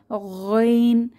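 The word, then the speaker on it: غ: মাখরাজটা ভালোভাবে বুঝতে পেরেছি কণ্ঠনালীর শেষ ভাগ থেকে আওয়াজকে পেঁচিয়ে বের হবেন এরপর আমরা দেখতে পাচ্ছি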